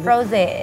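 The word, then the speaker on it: Rosé: Bacanya Rose apa Rose sih? Rose.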